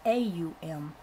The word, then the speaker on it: Aum: A is a guttural sound. As you pronounce it, you will note it starts in the throat. To pronounce U, the lips must be thrust forward. M, you will note, is formed by pressing the lips together, causing a resonant tone like the humming of a bee.